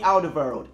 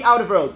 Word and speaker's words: Alderweireld: Toby Alderweireld. Yes, I pronounced it correctly.